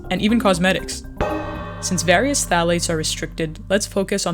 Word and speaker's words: phthalates: of chemicals called phthalates phthalates pronounced without the ph are present in so